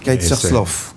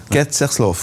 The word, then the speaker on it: Kerzerslauf: oui c'est kersl oui kerslov il faut le faire avec l'accent kerslov comme ça très bien merci en